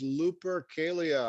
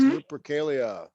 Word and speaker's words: Lupercalia: Okay, Fatima, what is Lupercalia? I was saying it wrong. Calia, not Salia. What is Lupercalia?